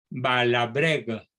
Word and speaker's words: Balabregue: Otro francés muy conocido, no tanto como Maritain, se llama Albin, se pronuncia, Balabregue, se escribe Balabregue, poco conocido fuera de Francia, no oculta que el caso Dreyfus tuvo mucho que ver con su mutación profesional.